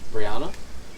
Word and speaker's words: Brianna: same spelled the same ours is pronounced Swedish Brianna um off of Anna